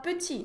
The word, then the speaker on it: petit: Petit se escreve com T no final, mas a gente vai falar petit, não vou pronunciar o T.